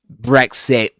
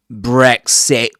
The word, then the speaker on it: Brexit: That at the end of Brexit is called glottal stop. Okay? So it's the kind of sound we'll hear in expressions like uhoh. Uhoh. Uhoh. Uhoh. Uh-oh. Uh-oh. All right. So, Brexit, Brexit. And it's and it's very common in this accent, you know.